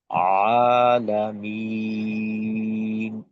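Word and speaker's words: العالمين: মাদের হরফের বামে ওয়াকফ হইলে এটাকে মাদ্দে আরজি বলে, তিন আলিফ টেনে পড়তে হয়, তখন উচ্চারণটা হবে আলামিন, আলহামদু লিল্লাহি রব্বিল আলামিন।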